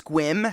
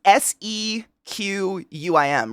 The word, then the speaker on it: Sequim: just like I mean if you didn't know the place squim how would you pronounce it I I'll It's s q u i m right it's spelled like sequum I think I haven't seen it spelled in ages but it's spelled really weird I would not pronounce that squim ever I'd be like that's